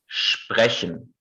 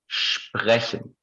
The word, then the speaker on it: sprechen: In German, we say sprechen. Okay? Sprechen. You see that the R is very different from English or Turkish or whatever native language you speak.